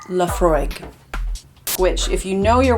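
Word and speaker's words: Laphroaig: but now he suggested lafre quarter Cask which Laura it's pronounced laf fry which if you know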